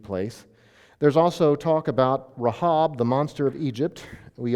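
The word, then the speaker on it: רחב: Her name would be pronounced Rahab. Rahab. But the monster is Rahab. So there's long sounds, and there's a in the middle of the woman's name.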